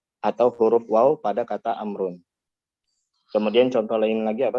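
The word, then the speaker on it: عمرو: Amrun. Makanya Amrun ada waw tapi tidak ada secara tulisan ada tapi tidak ada secara bacaan, kebalikannya. Ya, makanya Amrun yang mau kalau secara bacaan ya wawnya seakan-akan tidak ada.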